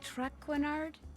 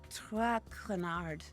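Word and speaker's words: Traquenard: we excuse-moi mez it Monsieur trequan art please in English I do not wish to hear my native tongue butchered while I eat as for my name not tracking art it is tracker now track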